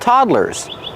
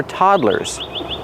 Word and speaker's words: toddler: They're called toddlers. This equipment is designed for toddlers. How do you pronounce toddler? The first syllable is the open a sound like hot and stop. Toddler. Toddler. Two syllables.